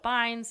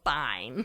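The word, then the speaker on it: bine: the cones off the vines, and it's with B. I'm not saying it wrong. It is a vine, not a vine, based on the direction it goes.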